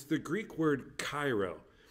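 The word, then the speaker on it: χαίρω: the word rejoice and it's the greek word cairo it's actually pronounced very gutterly hiro but i didn't want to say that all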